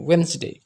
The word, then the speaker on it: Wednesday: ada itu weinstein itu cara pengucapan yang Betulnya wens dinaikkan keatas dia baru turun lagi Wednesday itu perubahan pola nada